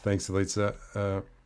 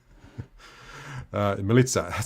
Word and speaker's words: Melitza: I think I just pronounced your name incorrectly, and now I've got a mental blank. I'm just going to go back to Copper's Kitchen for a while. Melitza, sorry, I got it then.